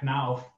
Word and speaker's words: Knauf: Knopf. Oh, Marcel's gonna say Marcel. You'd probably be Knauf. What's it? Knauf. Knauf. I need a bit more emphasis on it. All right, Knauf.